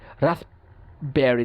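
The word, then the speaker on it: raspberry: করতে কষ্ট হয়, খাপবাউড, রাসপবেরি, রাসবেরি, দেখেন রাসপ বলে যখন আমরা থামি, রাসবেরি, দেখেন কষ্ট হয়, রাসবেরি উচ্চারণ করতে কষ্ট হচ্ছে, রাসবেরি। সো আমরা কি করছি, আমরা পটাকে বাদ দিয়ে দিচ্ছি। তাইলে এখানে যদিও ডিফারেন্ট সাউন্ডস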